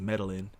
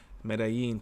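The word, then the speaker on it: Medellín: Dude was mispronouncing Medellin, says Medellin. Medellin, fool.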